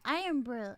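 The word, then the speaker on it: Irn-Bru: so okay, well my Puerto Ricanness, we pronounce it Idon Bean, but it's Iron Hmm. Brew or Iron Brew, and it's like I don't even understand the taste.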